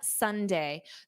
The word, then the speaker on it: sundae: And then number four, an ice cream sundae. The word Sunday is pronounced exactly as the day of the week.